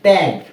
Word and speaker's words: ত্যাগ: এরপরে ত্যাগ, ত জফলা আকার ত্যাগ, ত্যাগ।